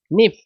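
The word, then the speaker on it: knife: এই যে দেখো বলছে নিফ এটা কিন্তু কের উচ্চারণ হবে না নিফ মানে চুরি তাহলে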